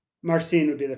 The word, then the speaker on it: Marcin: The other team that came up from the B side, Conrad Stitch, Kristoff Dolman, March, Semenski, and Bartas. Yeah. What is it? Marcine would be the pronunciation.